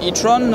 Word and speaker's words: e-tron: hôtesses c'est l'audi e-tron itron on va le prononcé à l'anglais je vous explique pourquoi